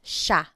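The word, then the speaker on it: siya: point out the pronunciation it looks like it should be pronounced but it's usually pronounced Sha Sha Sila is they tho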